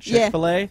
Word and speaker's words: Chick-fil-A: our discussion on chickfila it's actually spelled f i l l a f or f i l space a so that's why we're calling it Chick-fil-A because that's what it's actually how it's spelled yes um what's your